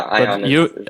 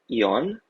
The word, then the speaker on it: Ion: I did the American pronunciation of your name. Yeah, Ion. Are you from Romania? Yes. So technically in Romanian it's Ion, but yeah, and Laurence is the English version, right, of Laurentiu.